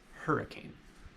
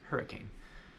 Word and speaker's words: hurricane: not who did cunning it's hurricane as in her like she and her that's how it would be pronounced hurricane it's also look at